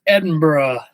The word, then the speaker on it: Edinburgh: uh husbands was there and he says it's pronounced Edinburgh I said oh okay okay corrected right away